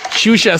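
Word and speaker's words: Xuxa: Shusha spelled with an X-U-X-A, like an X-Men.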